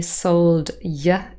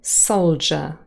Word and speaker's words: soldier: have the word Soldier we do not say sold yeah anymore it has become Soldier and ye become for